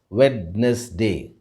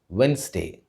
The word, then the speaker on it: Wednesday: and pronounce it as Wednesday. But the right pronunciation for this word is Wednesday. Remember, the D is silent in this word.